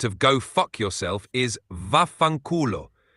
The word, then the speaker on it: vaffanculo: The Italian equivalent of go fuck yourself is vaffanculo. It's a pretty strong and common Italian curse, so definitely use it with caution. Can you say it again for us? Of course, it's pronounced vaffanculo.